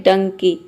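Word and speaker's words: donkey: तो यहाँ पे देखिए डी का हो जाएगा ड और यहाँ पे ओ को हम ओ प्रोनाउंस करेंगे। एन का हो जाएगा आधा न, एन को हम आधा न के प्रोनाउंस कर रहे हैं क्योंकि देखिए एन के बाद के आ रहा है। तो एन और के ये 2 कॉन्सोनेंट एक साथ आ रहा है, इसलिए हम पहले कॉन्सोनेंट को आधा प्रोनाउंस करेंगे और दूसरे को के जो है इसको पूरा प्रोनाउंस करेंगे, मतलब कि ये हो जाएगा का।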